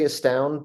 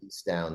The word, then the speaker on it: estound: that correct is it Eastown or aound you know I generally say aound but I don't correct people who say isound I'm I'm okay with